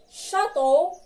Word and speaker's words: château: Et le dernier mot, château. Encore une fois, château.